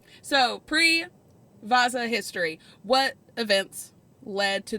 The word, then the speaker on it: Vasa: found my next topic it is the Vasa or vaza is kind of more of how they say it so before I'm gonna